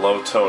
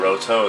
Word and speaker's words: Roto: By the way, the reason why it's called, like, why it's alternating between Loto and Roto is because in Japanese, the L is pretty much, the L and R are pretty much pronounced the same way.